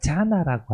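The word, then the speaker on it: jhāna: 왜냐면 뿌르 자나라고 할 때이 자나라는 말이 그 선할 때 원래 그 간다라의 자나랑 발음이 같거든요. 우리 그 디아나 보통 산스크리트에서는 디아나라고 하는데 팔리어에서는 자나라고 하고요.이 이 간다라에서도 자나 혹은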